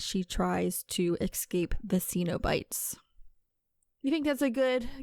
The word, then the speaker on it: Cenobites: It's not Cenobites, Caitlyn. I blame this all on you. It's Cenobites.